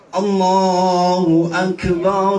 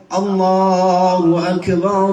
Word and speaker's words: Allahu Akbar: Jadi jangan gini juga bacanya. Allahu Akbar, Allahu Akbar, Allahu Akbar. Itu mah nggak wasal berarti ya. Kalau mau Allahu Akbar, jeda. Allahu Akbar, Allahu Akbar, Allahu Akbar. Jadi bukan Allahu Akbar, bukan gini.